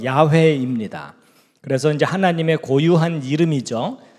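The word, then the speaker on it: 야훼: 우리말 성경에는 여호와라고 번역이 돼 있지만 어 히브리어 원문 단어의 발음은 야회입니다.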